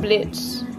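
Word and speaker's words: Blitzø: this let's go we got Blitz the O is silent and then demon girl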